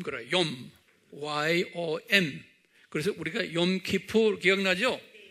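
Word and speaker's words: יום: 욤. Y-O-M. 그래서 우리가 욤키푸 기억나죠? 욤키푸르란 건 뭐예요? 피 흘려 제사 드리는 거예요. 욤은 뭐예요? 날. 그래서 속죄일 그런 거예요. 속죄일. 그래서 욤키푸르 그러는 거예요. 그래서 욤은 유대말로 day, 날, 하루 그런 소리예요.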